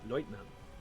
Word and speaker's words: Leutnant: word lieutenant is used, they usually pronounce it Leutnant.